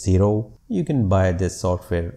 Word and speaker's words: Xero: want to recommend is the xero i suppose it is to be pronounced as zero you can buy this